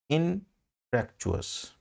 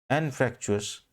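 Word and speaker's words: anfractuous: अपना वर्ड है इनफ्रैक्चुअस, ठीक है ना। अपना वर्ड इनफैक्ट ये एनफ्रैक्चुअस है, ये जिसका प्रोनाउंसिएशन एन से स्टार्ट हो रहा है, सॉरी, एनफ्रैक्चुअस।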